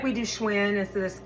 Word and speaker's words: Schwinn: Skylar, spelled Schuyler, leads people to think Schuler, because they pronounce that shoe instead of sky, right? It's like we do Schwinn instead of squin.